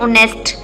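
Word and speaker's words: honest: दी गई है देखिए ऑनेस्ट एच यहां पे क्या है साइलेंट है ठीक है एच साइलेंट है तो हम पढ़ते हैं ऑनेस्ट ओ से स्टार्ट ठीक है ऑनेस्ट तो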